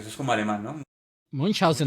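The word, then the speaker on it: Münchhausen: Munchausen. Munchausen, sí, Usted solamente ponga el acento Munchausen sí es. y ya suena alemán.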